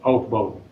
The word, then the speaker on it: Aufbau: Did you, so it's German word for building. Build on, Aufbau, how you populate orbitals of an atom with up and down electrons.